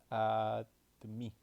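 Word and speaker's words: आदमी: Wait, it's pronounced like admi, and it's equal to man.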